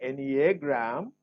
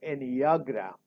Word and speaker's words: Enneagram: And you can pronounce it as any A is pronounced A or A. So you can say Enneagram or Enneagram. Enneagram, Enneagram. So both are correct.